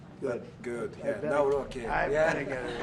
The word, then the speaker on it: Nawrocki: I Yeah, better- Nawrocki.